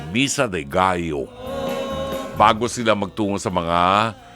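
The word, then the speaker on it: Misa de Gallo: diyan Misa de gayo sa ating mga Pilipino ang pronunciation natin diyan Misa de galo ah kastilyo di ba Ah galo ah Ano nga yung chicken sa ano polyo sa atin dito di ba ang pronunciation niya ng mga Kastila gayo B gayo poo poo ano sige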